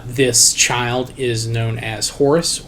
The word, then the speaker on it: Horus: child is known as Horus or or heru again depending on the time of the place pronunciation may change the Horus is the Greek version of the name now uh Isis flees